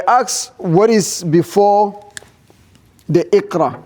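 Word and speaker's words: اقرأ: You don't say Mikra. No. Bismillahir Rahmanir Rahim, Iqra. Yes, you are going to pronounce the mim kasra and then you're going to pronounce the alif.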